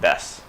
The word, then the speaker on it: desu: is Watashi wa John-san desu. Right, so let's see how I'm going to write it in the romanization. Watashi wa John-san desu, which they pronounce des.